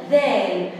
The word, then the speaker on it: ذال: حرف الدال، حرف الدال من الحروف اللسويه، لازم نطلع طرف لساننا احنا بننطقها. دال ذا ذا ذال.